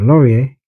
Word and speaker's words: LORIER: The LORIER, that's how it's pronounced, acrylic crystal.